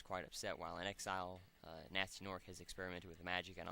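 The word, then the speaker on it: Gnasty Gnorc: little do they know nasty nork pronounced nasty nork in ast why the g is supposed to be silent even though they were saying ganasti genoric whom they previously banished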